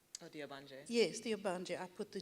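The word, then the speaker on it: Ogbanje: chapter, and the epigraphs work like your I mispronounced it. The spirit children, right? Oh, the Obanje. Yes, the Obanje.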